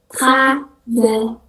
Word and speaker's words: travailler: Huruf L, kalau ada L double, itu dibacanya Y di dalam bahasa Prancis. Tapi kalau L cuma satu ya tetap bacanya L aja gitu, L biasa. Tapi kalau L-nya double jadi Y.